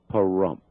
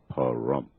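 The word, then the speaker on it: Pahrump: five uh in a town called pa rump not to laugh as i spell it that's p as in paul a h r u m p p rum nevada and the zip code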